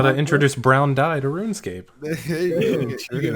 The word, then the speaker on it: RuneScape: He asks, question, how did your parents pronounce RuneScape growing up? My dad always called it that RimScape job, as in rim. That Rimscape game, as in rim job. RuneScape. Mine was RoomScape.